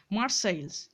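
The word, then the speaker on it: Marseille: Boat from মার্সাইলস, এইটার উচ্চারণটা হচ্ছে মার্সাইল, ঠিক আছে? মার্সাইল বানানটা অ্যাকচুয়ালি এসটা হলো প্লুরাল লাগিয়েছে, আর LLE পর্যন্ত হলো সিঙ্গুলার বানানটা, ঠিক আছে?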